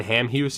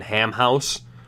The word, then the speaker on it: Hamhuis: or something like that they pronounced Dan Hamhuis is Dan ham house so you know that someone just like okay ham he was him he was ham house damn it like it's just it's stuck in their head and every once in a while they say it's oh I'm sorry blame the commentators who didn't know how to say his name correctly Marchand Marchand we go